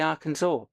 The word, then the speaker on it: Arkansas: Well, you say Kansas, but you say Arkansas. So why don't you say our Kansas or can our cancer and cancel? So that that's an example of how even US English just has weird things. It's spelled exactly the same way, but you say it differently.